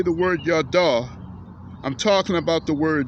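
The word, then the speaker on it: ידע: So the word no from the Hebrew is pronounced yada. Y-A-D-A is pronounced yada.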